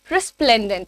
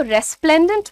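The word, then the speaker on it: resplendent: यहां पर हमारा वर्ड है रेस्प्लेंडेंट। इसको रेस्प्लेंडेंट मत बोलिएगा। रिस्प्लेंडेंट होता है।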